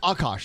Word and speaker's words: Akaash: I've been calling you Akash for many years and I've been saying it wrong the whole time. No, Akash is great. That's great. You said it great.